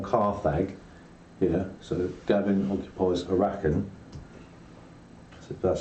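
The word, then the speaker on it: Arrakeen: However, Fremen can move 2 adjacent territories, and if you occupy Arakan or Carthag, here, so Gavin occupies Arakan, so that's how you pronounce it, you can move 3 adjacent territories because there's ornithopters in there, right?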